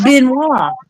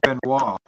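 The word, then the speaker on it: Benoit: how spelled but it's it's a French word and it's pronounced Ben W Ben W huh B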